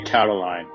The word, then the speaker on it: Catiline: How do you pronounce it? I would say Catiline.